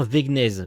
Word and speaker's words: Wegnez: Je vais dire Wegnez, parce que je sais pas si le W se prononce.